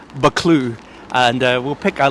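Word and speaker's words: Buccleuch: u c h so it looks like it's spelled bucklyak but it's pronounced baklu and uh we'll pick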